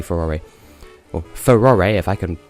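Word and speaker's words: Farore: And I think I mentioned before, I've always pronounced it Faro, even though it's Japanese, so it's probably Furore.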